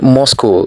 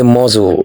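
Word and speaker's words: muscle: We don't say Moscow, we say muzzle because C is silent.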